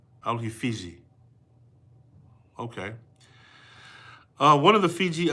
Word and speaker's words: Fiji: with a J, because there is no J in the Tongan language. They would have said fishy. Fishy. But he spelled it with a J, meaning it had a J-sounding pronunciation. Alhi Fiji.